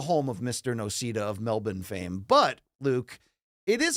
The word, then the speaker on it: Melbourne: Arena not the home of Mr NOA of Melbourne Fame but Luke it is a card okay I believe it's pronounced Melbourne no it's pronounced melbour local like listen I